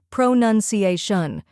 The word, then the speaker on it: pronunciation: Finally, we have ation, where a sounds like in nation, and shun is like in attention. Now let's put it all together. Pronunciation.